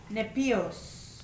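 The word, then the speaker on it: νήπιος: nepios. Huh? Nepios. Well, the E and the N must be pronounced as an N.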